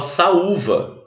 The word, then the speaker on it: saúva: Saúva, você não fala sal. Olha só a diferença de saúva para salva, que se escreve até com L, mas tem som de U. Salva de palmas. Olha a diferença. O outro se fala saúva.